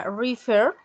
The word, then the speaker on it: refer: Lo mismo en cuanto a refer, ¿sí? Tenemos el acento en la última sílaba, ¿sí?